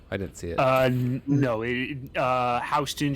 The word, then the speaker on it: Houston: Houston Street in New York is pronounced Houston, not Houston.